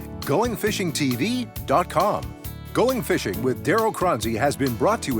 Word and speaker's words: Choronzey: Did I pronounce that right? Yes, you did, Darryl. You know, it's Choronzey, right?